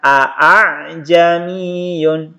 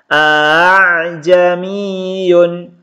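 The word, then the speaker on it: أأعجمي: teman-teman scan a kemudian Hamzah yang kedua dibaca samar atau dibaca ringan antara jadi cara membacanya ah jam Iyun are jami'un jadi tidak dibaca Aa Jeni Yun tapi ini dibaca samar atau dibaca ringan ahzami Yun ini terdapat pada Quran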